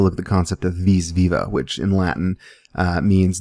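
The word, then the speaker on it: vis viva: at the concept of vis-viva which in latin uh means the life force and it might more appropriately be pronounced wheez-wewa but that sounds funny so i'm not going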